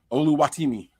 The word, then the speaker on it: Oluwatimi: the Seahawks Pig I can't say his name oluwatimi no that was it yo you said it